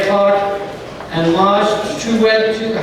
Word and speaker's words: Toure: And Maj Toure, how do you pronounce his name, Tom, again?